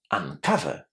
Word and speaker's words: uncover: Uncover. Uncover. How is the letter O pronounced? As the short A sound, exactly the same sound as in the word but or cut, uncover.